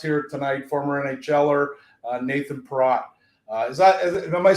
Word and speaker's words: Perrott: tonight, former NHLer Nathan Perrott. Am I saying it right? Is it Perrott or Perrott? I'm sure you've heard it all. Perrott is normally how it's pronounced, but it should be pronounced Perrott, but yeah, phonetically, but yeah.